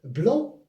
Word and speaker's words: blanc: Alors blanc avec C ici blanc on ne prononce pas le C parce que c'est un mot euh c'est une consonne he muette.